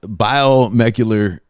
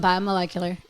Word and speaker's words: biomolecular: say it correctly uh uh yeah chemical environment biomecular engineer did I say that right you butchered it say it again molecular guys chemical